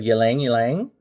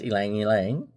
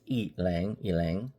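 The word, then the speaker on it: ylang-ylang: We have yang yang. And it's pronounced elang yang. It's not yang. It's eang yang. Elangilang.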